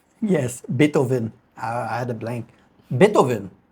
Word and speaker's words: Beethoven: The V in his name is pronounced the same as an F sound.